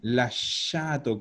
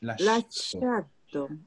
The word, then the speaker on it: lasciato: Ojo, asocia la pronunciación. Lasciato con sh. Lasciato.